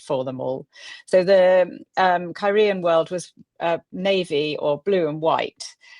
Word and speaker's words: Cairhien: pronounced Cairhien.